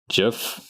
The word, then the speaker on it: GIF: the hard G, like GIF. Well, no, it's not even a hard G. It's with like an it's a J. That's what it is. It's J.